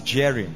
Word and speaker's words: Jearim: It's actually spelled as Jearim, J-E-A-R-I-M. But you know, in Hebrew, J is pronounced as Y.